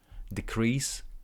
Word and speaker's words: decrease: decrease number of tickets decrease decrease stress in the second syllable look at here decrease decrease number of tickets over